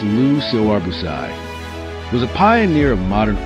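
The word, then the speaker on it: Le Corbusier: Lu Corbuz Lu Corbuz pronounced Lu Siobus was a pioneer of modern architecture.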